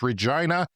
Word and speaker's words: Regina: Maybe he was confused because it rhymes with vagina. It's Regina.